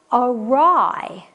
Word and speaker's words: awry: the action is resolved awry like a rye awry is when something